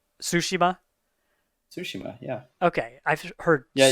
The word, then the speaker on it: Tsushima: Tsushima. Yeah, Okay, I've heard yeah. Tsushima. I've heard not sashimi, but it feels like every time I hear it, I want to say that. Okay, Tsushima.